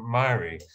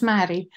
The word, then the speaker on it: Mary: have our last question from Murray uh again I hope I pronounced your name right please uh unmute and uh I'll ask your question to Satish thanks Jim it's Mary um hi Satish yeah